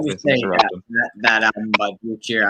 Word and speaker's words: Vincebus Eruptum: I mean, it's Vincebus Eruptum. I know some people don't know how to say it correctly, but I think that's the way you say it. Vincebus Eruptum.